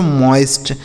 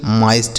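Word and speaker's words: moist: एम ओ आई एस टी इसे पढ़ेंगे दोस्तों मॉइस्ट। क्या पढ़ा जाएगा मेरे दोस्त? मॉइस्ट। समझ गए ना? तो अगर ओ के साथ आई लिखा हो दोस्तों तो इस ओ आई का उच्चारण आई होता है।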